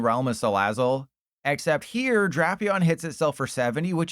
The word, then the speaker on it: Drapion: I was going to make a does the curtain match the drapions joke, but it's pronounced drapion, so that's ruined.